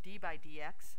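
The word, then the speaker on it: d/dx: This is pronounced d by dx or df by dx.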